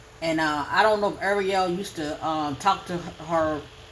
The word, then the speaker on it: Arielle: she didn't correct him when it comes to pronunciation of her name. So I say Arielle, okay?